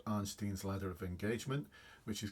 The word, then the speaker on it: Arnstein: Arnstein, it's spelled A-R-N-S-T-E-I-N-S. So Arnstein's ladder of engagement. It's probably pronounced Arnstein or something like that.